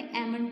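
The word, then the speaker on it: almond: वो है रोज एलम एलम में पढते अमंड पढते इसमें एल साइलेंट होता है और पीच और एलम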